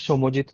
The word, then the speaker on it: Soumojit: um, so my name is Soumojit. I'm actually from Kolkata. I live a little outside the main city, and I started my page like a TV show from scratch, and that's